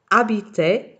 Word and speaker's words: habiter: Aimer, adorer, acheter, envoyer, aider, habiter. Okay, it doesn't start with a vowel, but it starts with a silent H, so it's the same difference.